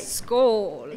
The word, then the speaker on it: Skål: And the name of the exhibit is Skål. Skål, Scandinavian Spirits. And I've been trying to tell everybody I know that even though it's spelled S-K-A-L, the A is actually pronounced like an O-A. It's right. Skål.